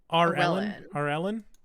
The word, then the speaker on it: Aurelan: Aurelian. Yeah, it's spelled. How it's spelled though was Aurelan. Yeah. Yeah. Arellen. Like Ellen with an R in front of it.